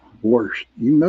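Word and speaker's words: worsh: Oh, worst. Kevin, worst. W-O-R-S-H, buddy. That's how you pronounce it. Spell it. W-O-R-S-H. That's only here in Pittsburgh.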